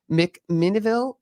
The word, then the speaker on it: McMinnville: You were actually from, I can't pronounce it. If I do it right, I will. But McMinnville, Oregon.